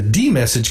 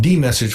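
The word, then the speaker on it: dmesg: way is to use the d message command which dumps the contents of the kernel ring buffer to the screen by the way that command is spelled d-m-e-s-g now since the messages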